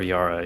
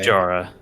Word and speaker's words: Jara: Is it Jara or Yara? Your character? Jara with a J. Jara. Jara like a hard J.